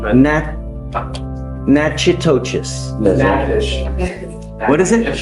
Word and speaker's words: Natchitoches: You are wanted out of Louisiana, Natchitoches Parish. I butchered the pronunciation, but Natchitoches. Natchitoches. What is it? Natchitoches.